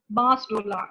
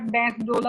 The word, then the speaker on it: बांस डोला: Hanging, strangulation, ligature strangulation में garroting आ गई, throttling, mugging, बांस डोला. इसको प्लीज, ये उर्दू का लफ्ज है, इसको उर्दू में ही पढ़ें. दिस इज नॉट बैंस डोला और एनीथिंग. दिस इज बांस डोला.